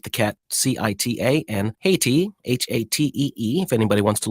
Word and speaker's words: Hati: The school name is pronounced Cheetah, like the cat, C-I-T-A, and Haiti, H-A-T-E-E, if anybody wants to look this up.